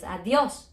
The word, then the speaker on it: adiós: we have a s so it should be ádios but it's not ádios it's adiós so we're broken the rule